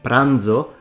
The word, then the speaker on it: pranzo: comes from Latin TI pranzo The Zed is pronounced because it comes from Latin di brandium now have you ever